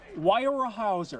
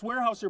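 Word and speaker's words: Weyerhaeuser: do can't say right why or a Hauser I just can't pronounce it because it's warehouser but it does sound that's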